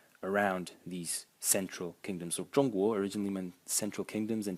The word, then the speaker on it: 中: 中立, neutral, and as I said, 中国, China. And the second pronunciation of this character is 中 in the fourth tone.